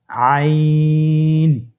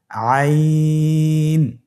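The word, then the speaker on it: عين: আইন হরফটি উচ্চারণের সময় অবশ্যই তিন আলিফ টেনে পড়তে হবে। এখন আইন হরফটি বারিক হরফ। পাতলা করে পড়তে হবে। আপনার আমার সাথে বলুন আইন আবার বলুন আইন আইন হরফটি কন্ঠনালীর মধ্যখান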